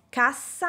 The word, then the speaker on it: cassa: Hagamos otro ejemplo con el par de palabras "CASSA" (caja) y "CASA" (casa). Cassa, casa. Aquí también tenemos una pronunciación diferente de la (letra) "S". La doble "S" queda en un sonido sordo.